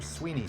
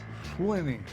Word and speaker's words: Swinney: So is it Swinney Switch or Sweeney Switch? Swinney, S-W-I-N-N-E-Y. Well, I see how it's spelled, but people pronounce it a couple different ways.